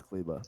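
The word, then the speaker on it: Kleber: guys saying it maxi klieba promise you it's kaliba it's cle we think it's okay okay this is the clipa so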